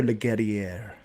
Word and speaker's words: Leguerrier: I think he pronounced his name, I was told, as well. It's Theo. Theo Leguerrier.